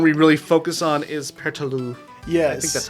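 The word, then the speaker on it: Pertelote: I pronounce it Pertaloo, like without the T. It could be Pertaloot. Oh wait, no, it's Pertalote.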